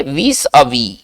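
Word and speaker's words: vis-à-vis: दिया जाता है करे ए फ्यू मिसनोमर्स प्रीवेल विस अवी ये देखिए फ्रेंच वर्ड है इसका उच्चारण कैसे करेंगे विस अवि इसको ऐसे करेंगे विस अवी ठीक है ना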